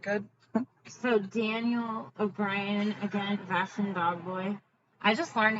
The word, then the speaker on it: Vashon: We kept overly pronouncing it, like Vashon or whatever. It's Vashon. We were trying to fancy it up, dirt.